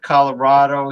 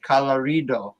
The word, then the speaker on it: Colorado: And the guy, instead of Colorado, he said Colorido.